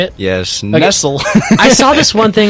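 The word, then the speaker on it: Nestlé: Nestle is that how you say it yes Nestle I saw this one thing where it's like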